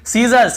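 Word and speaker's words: scissors: फिर देखिए सीजर्स, सीजर्स यानी कैंची को सीजर्स कहते हैं, यहाँ पर भी एस साइलेंट है।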